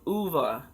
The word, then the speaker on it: Ove: It looks like it's spelled O-V-E, and I thought it was O-V, but when you listen to the audio, and he keeps saying over and over, a man called Ovu, I believe is how he pronounced it.